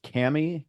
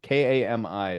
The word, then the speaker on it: kami: in general and it's I don't know if I'm pronouncing this right or not but it's Camy k a m i is is what I came AC I think it's Kami Kami great believe and this